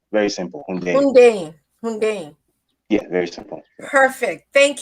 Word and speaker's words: Hundeyin: It's Hun. So basically, think of it as Hoon. So Hun, then Day, then In. Very simple. Hundeyin.